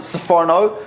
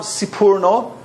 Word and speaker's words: Sforno: Some people pronounce it Sforno, some Sipurno. I think probably soprano, but that has negative associations with Americans, so we prefer to say Sforno.